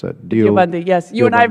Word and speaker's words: Deobandi: Or how am I supposed to pronounce that? Deobandi, yes.